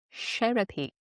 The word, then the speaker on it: Sherapy: Sharapye and Sherapy. It's just how it's spelled in my head and phonetically. And that is correct. Sherapy.